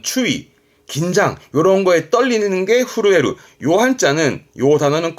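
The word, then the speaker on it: 震える: 뭐 두려움 그런 추위 긴장 요런 거에 떨리는게 후루에루요 한자는요 단어는 꼭 사전을 통해서 예문을 받을 필요가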